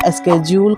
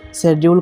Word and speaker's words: schedule: इसके साथ ही मैं एक शब्द और बता दूं, वो है अनुसूची, जिसे इंग्लिश में स्केड्यूल कहा जाता है या स्केड्यूल कहा जाता है और आम प्रोनाउंसिएशन में इसे शेड्यूल कहा जाता है।